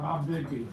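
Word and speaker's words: Tombigbee: Tom Bigby.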